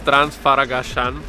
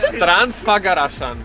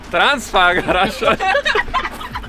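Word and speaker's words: Transfăgărășan: our first spot is Transfaragasan mountain pass. Don't laugh. Probably not pronounced like that. Yeah. What? Transfaragasan. Okay, so Transfaragasan. Transfagarashan. Yeah. Transfagarashan.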